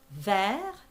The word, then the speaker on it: vers: Vers, and don't pronounce the S. You just say vers with the R.